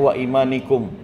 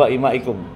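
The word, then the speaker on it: وَإِمَائِكُمْ: Tadi bacanya wa imanikum ya yang betul wa imaikum.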